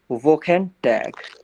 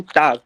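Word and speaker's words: Wochentag: इनको जर्मन में कैसे प्रोनाउंस करना है, क्या करना है, वो समझते हैं। इन्हें कहेंगे वोकेन टैग। क्या कहेंगे? वोकेन टाग।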